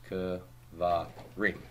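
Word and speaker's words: קְבָרִים: the im, and then segulat nouns are not very committed to first syllable stress when you add the plural endings. So I get the same vowels that I get with davar, davarim, right? So it becomes kvarim.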